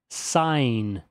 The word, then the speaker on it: sign: GN normalmente tem som de N. Então essa palavra nós pronunciamos sign.